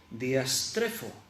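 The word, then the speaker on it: διαστρέφω: Esa palabra perversas en el griego es diastrefo. Bueno, tiene un acento en la E. Diastrefo, bueno, ya lo he pronunciado bien. Diastrefo. Es la palabra así tal como suena.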